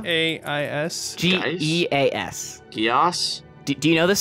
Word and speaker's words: geas: that actually is pronounced Gias.